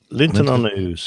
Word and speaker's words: Linton-on-Ouse: How do you pronounce that? Linton-on-Ouse.